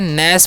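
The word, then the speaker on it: gnash: नैस पढ़ते हैं। गणैस नहीं पढ़ना, जी साइलेंट।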